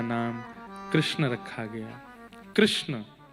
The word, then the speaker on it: कृष्ण: कृष्ण इस शब्द का उच्चारण कई लोग शुद्ध नहीं करते। क्योंकि शुद्ध कर लेंगे तो फिर भगवत प्राप्ति हो जाएगी। इसलिए सब लोग इस नाम को कोई किशन बोलता है, कोई कृष्ण बोलता है, कोई कुछ बोलता है।